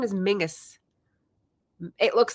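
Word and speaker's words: Menzies: the family maybe as Mingus because the Z was actually like a different character that doesn't exist in English anymore I was like what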